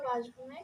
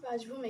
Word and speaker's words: বাসভূমি: কবিতাটি নেওয়া হয়েছে নিজ বাসভূমে কাব্যগ্রন্থ থেকে ভাই আমরা কিন্তু বলি নিজ বাসভূমে কিন্তু না আসলে উচ্চারণ হবে নিজ নিজ বাসভূমি আমরা উচ্চারণের ক্লাস করেছি